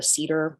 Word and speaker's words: CIDR: get details about a cedar or cider range pronounced the way you like which is a notation